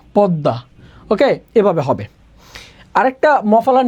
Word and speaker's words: পদ্মা: তার মানে দয়ের সাথে মফলা থাকলে উচ্চারণ দ্বিত্ব হয়।